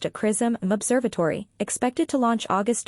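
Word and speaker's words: XRISM: will run through 2025 Japan sism x-ray Imaging and spectroscopy Mission pronounced aism Observatory expected to launch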